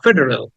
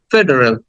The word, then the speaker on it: federal: এরপর এটা just short ফেডারেল। এটাকে টেনে বলা যাবে না কিন্তু, ফেডারেল। আটাকে জাস্ট সামান্য করে বলে যাচ্ছি, ফেডারেল, ফেডারেল। হ্যান্ড, এটাকে আমরা অনেকে হাইট বলি, হেইট বলি, বাট শব্দের উচ্চারণ হচ্ছে হাইট, হাইট।